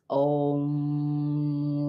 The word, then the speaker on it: om: see you don't need you don't need the m to be pronounced so much because as your lips come together that is that M so it's om ra you're working